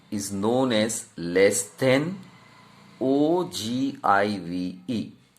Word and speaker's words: ogive: g i v e we pronounce this way it is given that o g o g earlier days or um we were speaking o give ogive whatever it may be here it is written that way you have to pronounce i will speak ojiva you may have different also it is not